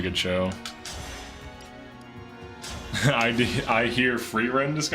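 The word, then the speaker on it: Frieren: are obsessed with it it's pronounced free Ren I don't really remember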